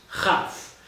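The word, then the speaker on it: כ: letter is still tough it's a cuff without a doubt pronounced cuff second variation that the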